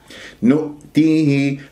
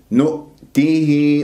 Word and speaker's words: نؤتيه: نؤتيه، همزة ساكنة في وسط الكلام، يجب أن أنتبه إذا كانت مسبوقة بضم، ما أنا أنطق الهمزة الساكنة بضم الشفاء. نؤ، شوف نطقت الهمزة ولازالت الشفاء مضمومة تأثرا بضمة النون. نؤ خطأ، نؤ، نؤتيه، ما تصل صغرى بمقدار حركتين. نؤتيه، هكذا يجب أنه أنا أنطقها.